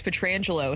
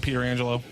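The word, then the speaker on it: Pietrangelo: that Petra even Alex petrangelo his name has been mispronounced a lot Pierre McGuire is called Peter Angelo Peter Angelo I like that even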